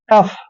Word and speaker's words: tough: दोस्तों जहां पर UGH तीनों लेटर इकट्ठे आते हैं उसको हम फ पढ़ते हैं, इसलिए ध्यान रखिए टी का उच्चारण ट करेंगे और OUGH का उच्चारण हमेशा फ करते हैं।